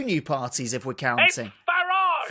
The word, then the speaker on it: Farage: Farage. Farage. Pronounce it the British way, please.